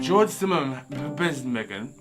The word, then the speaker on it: George Zimmerman: Now I like fat people, but George Zimmerman, that's his name.